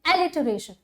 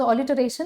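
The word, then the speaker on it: alliteration: कि हम कहते हैं एलिटरेशन, राइट? ओके, आजकल we have started pronouncing is एज ऑलिटरेशन, so what ever you would like to pronounce it एज, आप बोलो ऑलिटरेशन और एलिटरेशन.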